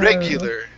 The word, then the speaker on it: regular: And so instead of a AR sound, lar, it's lur. Okay. Lur. Regular.